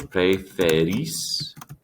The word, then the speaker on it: preferís: Vosotros preferís. Preferís with the accent on the I.